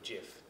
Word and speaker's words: GIF: audience as an animated GIF, or GIF, depending on how you pronounce it. The creator pronounces it with a hard G, and everybody else in the world pronounces it with a soft G.